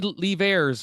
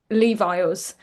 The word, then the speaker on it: Leivars: I think the worst one that I ever have was Levi's, which was really random,